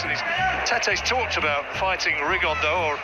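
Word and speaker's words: Rigondeaux: he's talked about fighting rig on though as he's correctly pronounced with the uh the spanish accent rig on dao and look two absolute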